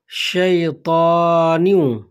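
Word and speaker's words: شيطان: আউজুবি কালিমাতিল্লাহিতামাতি মিন কুল্লি শাইতানি শাইতানি এখানে শিন রয়েছে সিন না শিন তো উচ্চারণটি হবে শাই তারপরে ত শয়তানি শাইতানি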